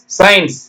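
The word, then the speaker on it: science: ஐக்கு ஐ சத்தமே அப்ப படிச்சீங்கன்னா சை இன் இஸ் சயின்ஸ் வருதுங்களா ஓகே சென்ட் நம்ம சென்ட் அடிச்சீங்களா வாசனம் அது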